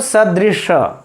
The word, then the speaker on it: सदृश: तो स और श का मित्रों हम लोग उच्चारण ही ठीक से नहीं कर पाते हैं, उच्चारण पर भी हम लोगों को ध्यान देना होगा।